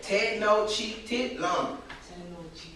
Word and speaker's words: Tenochtitlan: So, Tenochtitlan.